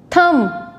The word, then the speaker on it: thumb: silent B words examples thumb dumb it's not calm thumb dumb B is silent so the correct pronunciation